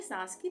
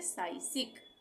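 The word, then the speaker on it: psychic: आए तो यहां पे पी साइलेंट हो जाएगा इसका उच्चारण नहीं होगा तो इसको हम क्या पढ़ेंगे पी एस वाई सी एच आई सी इसको हम पढ़ेंगे सासिक सासिक सासिक होती है मानसिक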